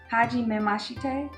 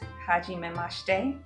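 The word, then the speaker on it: はじめまして: I always have to remember because I want to pronounce the syllables differently. It's not hajime mashite. Hajime mashite. Oh, mashite. Hajime mashite. That's how you say it? Mm-hmm. Hajime mashite. Hajime mashite. So you're not pronouncing that. No, either. So you don't say shite, you say she.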